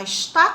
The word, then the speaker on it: está: No outro lado tem assim, já está complicado de novo. Está. A sílaba tônica é a última, então ela é uma oxítona.